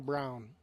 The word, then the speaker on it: Braun: Looks like Braun, but it's a home announcer saying Brown.